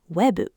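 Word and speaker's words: ウェブ: And where English has a syllable Japanese never had, katakana just builds one. We for webu, fa for fairu, ti for security.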